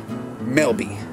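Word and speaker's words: Melba: Same two guys were telling me about a community that's near a place where we ride bikes that's spelled M-E-L-B-A, Melby.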